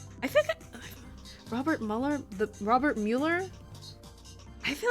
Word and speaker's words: Robert Mueller: Robert Miller. For some reason, seeing it, like, spelled out fucks up my pronunciation. But yeah, his name is Robert Mueller.